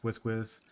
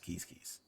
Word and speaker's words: Quizquiz: I didn't mention this, but keys is pronounced, like you may pronounce this quiz, and the achievement is quiz pro quo. But this actual pronunciation of this tribe is keys.